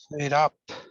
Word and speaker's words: fed up: Fed up. Fed up, yeah. Obviously, there's 2 syllables there, and yeah. Yeah, often we stress the particle, so it's fed up.